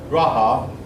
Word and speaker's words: Raja: Their kings were called Raja. That looks in English like it should be pronounced.